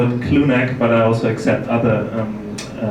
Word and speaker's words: Clounaq: So therefore I would call it clone neck but I also accept other um uh pronunciation.